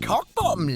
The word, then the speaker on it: Cockbottom: It's pronounced Cockbottom, love. The pleasure's mine and all.